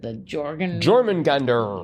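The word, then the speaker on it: Jörmungandr: And I remember when we had the Jormungandr.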